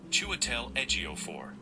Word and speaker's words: Chiwetel Ejiofor: So the word is pronounced as Chiwetel Ejiofor.